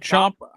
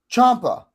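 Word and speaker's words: Ciampa: Champa. Champa.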